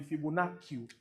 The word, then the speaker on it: Fibonacci: If you want to pronounce it, it can be Fibonacci.